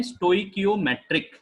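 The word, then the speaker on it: stoichiometric: इसे बोलते हैं स्टोइकियोमेट्रिक, स्टोइकियोमेट्रिक।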